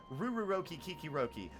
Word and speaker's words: Rururoki Kikiroki: Rururoki Kikiroki. But if you say Rururoki, you're lame. You gotta put sauce on those R's, otherwise you're not doing it right.